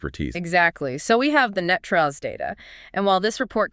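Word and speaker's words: NTREIS: But locally, it is universally pronounced Net Trust.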